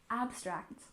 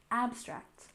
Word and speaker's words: abstract: and literature we have abstract art with a stress on the first syllable abstract abstract so together abstract art